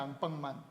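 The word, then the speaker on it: アンパンマン: 앙빵만.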